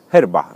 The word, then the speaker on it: yerba: Bo w Brazylii yerba mate czyta się jako herba i tak to połączono.